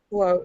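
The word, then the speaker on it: Kvothe: it in the book to say it like it had a q instead of a k quote okay quote okay quote so I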